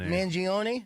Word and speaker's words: Mangione: Mangione. You say because it's Italian. You got to say it like that.